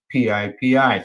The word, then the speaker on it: PIPI: psychedelics which they coined PIPI so Pippy drugs uh well they pronounce it pipi uh the psychedelic drug